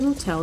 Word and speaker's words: motel: Let's go to the motel then. Кстати, заметьте, как произносится слово. Hotel. Hotel. Motel. Ударение на второй слог.